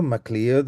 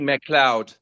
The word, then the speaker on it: Macleod: And let's Yeah, it's actually Mloud. Mloud. Okay. Yeah. It comes from the Scottish uh the classic Scottish pronunciation. Correct. And uh it's MAC, not the MCC. L E O D.